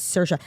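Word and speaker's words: Saoirse: s she was like imagine it's sersa and every time I see her name I'm like okay s you are the way she explained it to me like actually I I'll never pronounce her name wrong now she did a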